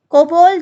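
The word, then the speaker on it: COBOL: page develop करता है कोबोल जावा basic assemble देखो कोबोल और कोबल यू can pronounce anything ठीक है कोबल जावा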